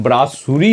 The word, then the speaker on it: brasserie: BRASSERIE, pronunciation ब्रासुरी होता है, SSERIE।